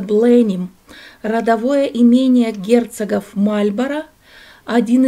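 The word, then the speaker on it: Blenheim: Это дворец Бленхейм, или по-английски произносится Бленим, родовое имение герцогов Мальборо, один из крупнейших дворцово-парковых ансамблей Англии, который расположен на окраине Вудстока в графстве Оксфордшир.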